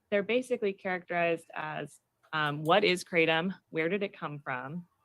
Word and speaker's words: kratom: I'm choosing to pronounce it kratom. Other people have used the pronunciation kratom.